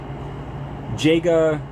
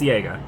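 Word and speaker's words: Jega: Jaga. I don't remember how I pronounce the last name. It's Yaga.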